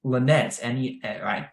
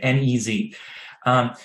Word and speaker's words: Nez: They are a magazine, Lanez, that's not the right way to say it, N-E-Z.